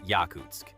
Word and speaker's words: Yakutsk: And on the Soviet side, airfields were built or improved across Siberia in places like Yakutsk, pronounced Yakutsk, Samchan, pronounced Samchan, and Kinsk, pronounced Karens.